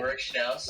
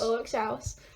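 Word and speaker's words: Ulrich Schnauss: So you had your collaborations with, I can't pronounce it, is it Ulrich Schau? Yeah, that's right. That's right. Ulrich Schnaus. Ulrich Schnaus.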